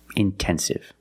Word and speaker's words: intensive: But if the stress is after NT, then you have to pronounce the T like a pure T. Intensive.